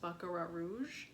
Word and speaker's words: Baccarat Rouge: And people say it's a dupe for, I believe it's pronounced Baccarat Rouge, which is a unisex perfume, so makes sense.